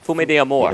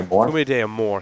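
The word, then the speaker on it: Fumé d'Amour: Fume de Amor. Fume de Amor, thank you.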